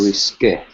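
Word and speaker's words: risqué: risque? Very good. Nice. Good job pronouncing. Notice the accent aigu after the E, so it has a A.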